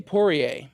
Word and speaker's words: Poirier: How do you pronounce his last name, though? Dustin Poirier.